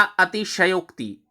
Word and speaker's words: अतिशयोक्ति: और अगला अतिशयोक्ति, तो उच्चारण का खास ही ध्यान रखिए, शय पर दबाव डालिए।